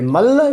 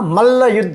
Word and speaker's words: मल्ल युद्ध: मल्ल युद्ध। और ये भी क्या है? मल मत बोलना, मल्ल युद्ध, आधा ल है तो उसकी साउंड आपके उच्चारण से आनी चाहिए। मल्ल युद्ध।